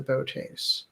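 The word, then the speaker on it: Boötes: the o's so i've i've heard that pronunciation all over the board but botes i think is pretty much um well that's how the transcenders pronounced it right they did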